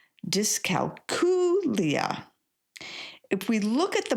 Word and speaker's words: dyscalculia: I got to be honest, I used to say discalcuia until I found out I was saying it wrong. Oops. It's actually pronounced discalia.